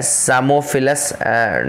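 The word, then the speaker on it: Psammophilus: है, इसका नाम है सामोफिलस डॉर्सैलिस। सामोफिलस P इसमें साइलेंट रहेगा, सैमोफिलस डॉर्सैलिस इसका नाम है, सैमोफिलस डॉर्सैलिस।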